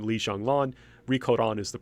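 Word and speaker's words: Ri Kōran: And the name she's usually known as Rico Don, that is the Japanese pronunciation of Li Xianglan.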